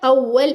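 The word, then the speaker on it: أول: अव्वल इसके ऊपर तशदीद है।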